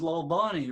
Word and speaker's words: Lalvani: And your full name, your last name is Lalvani, right? That is correct. Look at that. I said it right. Rocky Lalvani.